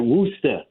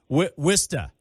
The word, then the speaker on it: Worcester: I'm working on my authentic pronunciation if I'm a Boston area person, right? Worcester, right? Worcester.